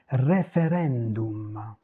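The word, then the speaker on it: referendum: Tous les mots qui se terminent avec le U et le M, en italien se prononcent tel quel.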